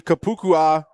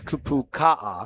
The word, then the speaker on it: Kapukaha: his his main man number three, Kapukua. I just butchered that one. No, that was right. Was that good? Okay. Well, it's Kapukaha.